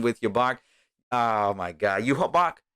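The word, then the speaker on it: Yhwach: Yuhabak. It's Yuhabak. That's what it is. Yuhabak.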